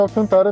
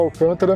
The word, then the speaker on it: Alcantara: E o nome é Alcantara mesmo, né? Muita gente fala Alcântara, mas Alcantara é um nome comercial registrado e se pronuncia Alcantara.